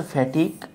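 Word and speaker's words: fatigue: উচ্চারণটা হচ্ছে ফ্যাটিক।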